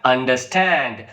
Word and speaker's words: understand: Okay, the compound words generally take the stress on the second word. For example, understand, overcome. So here the second word is stressed.